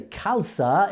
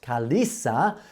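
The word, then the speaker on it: Khalsa: a not an i if you check the pronounced word it will sound kalas not kalis when we say kalsa it's ah not Kalisa thank you for all that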